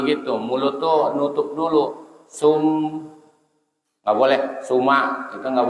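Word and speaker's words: ثم: Nggak boleh dibaca summa, nggak boleh, tapi sum harus ada kerasa menahan mimnya. Sum mau panjang boleh, tapi minimal begitu. Mulut tuh nutup dulu. Sum nggak boleh, suma itu nggak boleh, tapi sum boleh.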